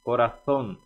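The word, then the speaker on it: corazón: é carinho coração coração Esse essa letra Z que no espanhol chamamos de seta ela tem que ser pronunciada com a língua presa atrás dos dentes os dentes de cima Então coração tem a língua atrás dos dentes de cima para dar o som da seta seta Viviane bien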